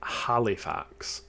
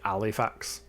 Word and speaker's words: Halifax: in uh Halifax and even though I pronounce it Halifax a lot of people pronounce it alifax so oh yeah I'm